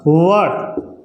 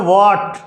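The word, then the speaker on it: what: वट। लेकिन वट ये अपने नॉर्मली इसको बोल देते हैं वॉट। ये इसकी एक्चुअल में सही प्रोनाउंसिएशन है कौन सी? वॉट इंस्टेड ऑफ, बजाय जिसके वट के।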